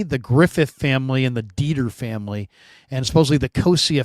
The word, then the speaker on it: Dieter: But a Dieter did get in. but there is a Dieter family, just a Dieter family. No E, no IE. It's just DEE. Yeah. TER, the Dieter family.